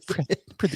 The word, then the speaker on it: pretty: So it's pretty. You pronounce both T's separately. Pretty.